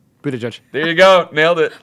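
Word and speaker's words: Buttigieg: do okay how do you say his name Peter judge there you go nailed it way to go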